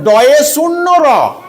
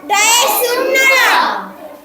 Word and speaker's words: ড়: মতো র এর মতো তাহলে এটা হবে যে ড এ শূন্য র ড এ শূন্য র এটা কি উচ্চারণ ডে শূন্য রূ যদি মনে করো এইটা